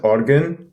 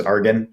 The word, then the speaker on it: Aargon: project name so um it's pronounced organ but most people in like i'm from canada so everybody just says argan or something like that oregon yeah yeah yeah yeah